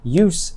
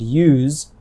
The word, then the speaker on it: use: The difference between use and use is one example of how speakers of American English sometimes pronounce nouns and verbs differently, even if they are spelled the same.